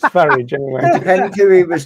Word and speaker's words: Farage: It's farage, not farage. Farage, I think. No, you're supposed to say farage. Like you say garage, you don't say garage.